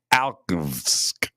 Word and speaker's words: Alchevsk: That's how you say it. It's Alchevsk. Alchevsk.